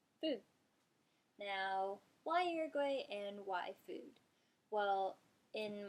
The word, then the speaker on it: Uruguay: was instructing us on how to pronounce these Spanish countries in a Spanish accent, the way she pronounced it was Uruguay. Uruguay, Uruguay. It sounds so different, but I thought it was really cool learning how to say it in Spanish.